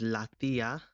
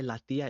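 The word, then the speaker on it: la tía: could say this is latia the accent on the I latia is the aunt and this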